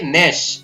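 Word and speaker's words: gnash: इसी प्रकार यहाँ पर जी शुरुआत में है, GN, तो यहाँ पर जी साइलेंट रहेगा, हम सीधा पढ़ेंगे नेश, NA ने और श, नेश।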